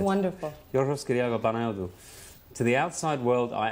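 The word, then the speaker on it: Yorgos Kyriacos Panayiotou: My name is Yorgos Kyriakou Panayotou. That's really how it's said. It's wonderful. Yorgos Kyriakou Panayotou.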